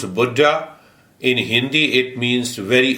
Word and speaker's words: Buddha: was a great master he was contemporary of Buddha in America we say Buddha so when you pronounce Buddha in Hindi it means very old and the